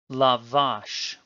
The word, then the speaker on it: lavash: ends in a consonant because there is no stress indicated on the word the stress is in fact as normal on the final syllable lavash now try this word na